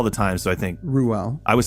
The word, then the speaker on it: Reuel: going to go with Ruel. Well, I think it's R-E-U-E-L. There are multiple ways to pronounce it. I think you say all the vowels. So you would say Reuel. I think it's Reuel, which would be hard